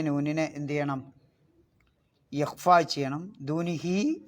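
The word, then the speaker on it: دُونِهِ: ദൂനിഹി എന്നുള്ളത് 4 മുതൽ 6 ഖദർ വരെ നീട്ടി ഉച്ചരിക്കണം.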